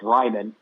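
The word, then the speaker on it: Raimann: and then uh Bernard I think it's Ryman uh is how he pronounces his last name he's actually uh from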